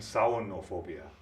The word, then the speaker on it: samhainophobia: Is it scariophobia, terrorphobia, halophobia, or samhainophobia? Pronounce that last word again. Samhainophobia. All right. I would pronounce them as scariophobia, terrorphobia, halophobia, and saunophobia.